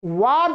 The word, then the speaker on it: वाद: है पश्चात, उपरांत, पीछे, परंतु वाद के स्थान में बाद बोलेंगे तो गलत हो जाएगा। आप कहना चाह रहे हैं वाद माने मत, और आपने